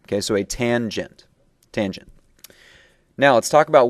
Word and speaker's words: tangent: And the third one, down below here, is referred to as tangent, as in a gent who has been in the sun for quite some time. Okay, so a tangent.